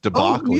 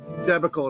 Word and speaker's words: debacle: said deal what yeah he mispronounced debacle yeah no it was it was uh it was on a Star Trek uh documentary and he said debacle instead of debacle yeah that's the geek